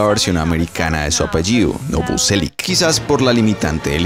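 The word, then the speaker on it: Novoselić: Bueno, sí, su apellido original se pronunciaría Novoselic, pues lleva esa especie de tilde sobre la C, sonido procedente del croata que no tiene equivalencia en español o inglés, pero lo más cercano sería un tss, no un ch de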